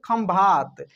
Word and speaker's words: खंभात: है कि उसमें क्या है, उसमें म का उच्चारण हो रहा है, यानी म लगेगा। जैसे खंभात, खंभात की खाड़ी आप सुने होंगे, तो खंभात आप ऐसे भी लिख सकते हैं, खंभात, ठीक है।